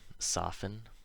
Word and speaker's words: soften: So, of course, there are words where this happens, where the T is always silent, like these ones. Listen, soften, moisten, fasten, hasten, glisten, and often. You'll notice the endings of these all rhyme with in.